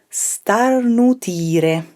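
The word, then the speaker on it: starnutire: you say that in italian to sneeze is star nutire i know tricky tricky one there so if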